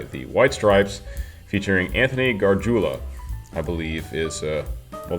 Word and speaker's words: Gargiula: White Stripes, featuring Anthony Gargiula, I believe is, well, that's how you would spell it if he goes by the Italian pronunciation, Gargiula. So I don't know if